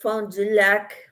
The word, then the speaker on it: Fond du Lac: Sue says, I'm familiar with Fond du Lac, Wisconsin. That's how you pronounce it in French.